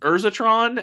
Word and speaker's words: Urzatron: it because it's pronounced urzatron and it's incorrect based on pronunciation alone uh no um deck specifically was so I'm gonna say I believe it first of all urzatron kind of sounds like Energon and since I'm a